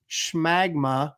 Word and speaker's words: Shagma: out of it but it's not true it's shagma like magma get it and then